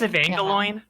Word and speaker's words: Evangelion: pronounced Evangelion.